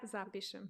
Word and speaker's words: zapišem: Okay, not zapišem. Because if you say zapišem, it's pišati is to pee, right? Oh, that's and true. Zapišati means like to pee over or something, like to pee on something. Oh my God.